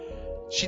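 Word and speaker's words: 四: Oh, and off she went. Ah, four is pronounced she, which is the word for death.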